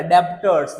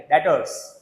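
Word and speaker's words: debtors: भले बी बोला है, डेब ऐसे बोला जाएगा, डेब्टर्स नहीं, बी साइलेंट है, डेटर्स।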